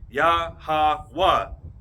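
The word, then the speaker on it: יהוה: You know there's no J's, so you're pronounced with the no J sound, no J. Is what I'm saying. It will be pronounced with a Yah. And there's no V sounds, no V. So that would be pronounced with a Wah.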